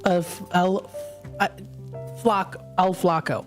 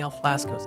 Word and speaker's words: El Flaco: Oh, Flacos? Oh, goodness. I've been saying it wrong the whole time. Oh, you know me. Oh, goodness. So it's El Flaco. I've been saying El Flasco's.